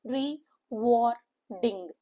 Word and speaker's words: rewarding: had not been there the ing the word becomes reward which is a noun a three syllable word with a stress on the second syllable and the pronunciation is rewarding ding giving satisfaction getting the